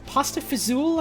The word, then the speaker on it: pasta fazool: called what's it called pasta fazool I want to say is like the Italian Americanized way of pronouncing that I'd say and it's